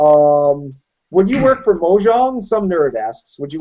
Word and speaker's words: Mojang: would be a good job interesting note it's pronounced muang and is Swedish for trinket or techn technological